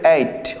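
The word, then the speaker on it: ate: ইটকে পাস্ট করলে হবে এইট, উচ্চারণটা কিন্তু এইট, অনেকে অ্যাড বলো, ভুল, এটা হবে ইটন।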